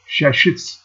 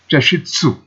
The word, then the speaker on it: chashitsu: shop, and a Japanese shashitsu. Oh, I think I should pronounce it as chashitsu, to name a few settings.